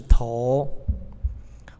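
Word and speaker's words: 亠: 了、于、是，接着进入两话，这个字是头、王、抗、交。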